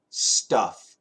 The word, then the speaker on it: stuff: between stff and St yes there's a big difference Patrick stuff staff St t u FF that's a short u uh like fun Fu n fun stuff stuff and St FF that's a short a like happy or apple so staff so give the stuff to